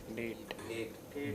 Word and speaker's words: date: Date. Date. Okay. What is the spelling of the word date? D-A-T-E. But if you pronounce it quickly, it sounds like debt.